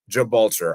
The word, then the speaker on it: Gibraltar: The G in Gibraltar is pronounced like GIF, not G as in Gallagher.